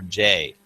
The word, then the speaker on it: Jay: Yeah, and by the way, Jay clarified how to pronounce his name, and it's very simply, it's pronounced like the letter J.